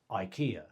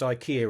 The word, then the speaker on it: IKEA: Strictly speaking, I'm already off to a flying start as I mispronounced IKEA earlier. But in my defense, that's pretty much what we all call it in the UK rather than Iaya or something like that.